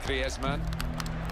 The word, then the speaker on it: Griezmann: Said he talks to his dog in Spanish and dreams in Spanish, so I think we can pronounce his name the Spanish way, Griezmann.